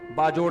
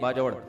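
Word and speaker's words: बाजौड़: उनके सुसर केपीके से ताल्लुक है बाजोड़ से। बाजड़ का जिसको बाजवड़ कहते हैं। असल प्रोनाउंसिएशन यह है बाजवड़।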